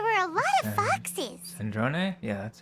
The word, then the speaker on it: Sandrone: Sandrone?